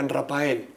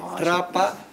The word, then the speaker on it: Raphael: No, Rapa. ¿Por no, qué? Eso, porque el PH... PH es F. F. Con la PH se escribe en todos los idiomas. En inglés, en francés, en alemán, es la PH.